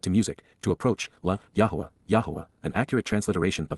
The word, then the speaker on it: Yahowah: Ebed, pertaining to the co-worker and associate of Yahowah, Yahowah, the proper pronunciation of the name of Eloah, God as directed in his Torah, teaching regarding his Hayah, existence and our Shalom, restoration.